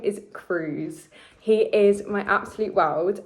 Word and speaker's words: Cruz: Um so yeah, it is pronounced Cruz. Um it's spelled C R I U Z, but it's pronounced Cruz.